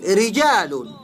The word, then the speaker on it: رجال: دویم مثال رجال. رجال را زیر لري نو تشه ویل کېږي باریکه ویل کېږي.